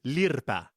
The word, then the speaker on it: lirpa: They will hit you with a lirpa. Trust. Okay, yeah, no. A slight correction there because the pronunciation is lirpa.